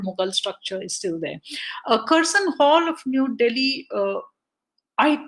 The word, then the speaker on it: Curzon: And therefore, when reading out the poem, I say Curzon, because it doesn't make sense when you're speaking in Urdu or Hindi to say Curzon, because it just doesn't fit with the language. You have to pronounce it as it would have been pronounced in somebody speaking in that language.